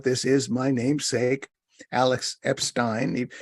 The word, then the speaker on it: Epstein: is my namesake Alex Epstein he pronounces it Epstein I pronounce it Epstein the moral case for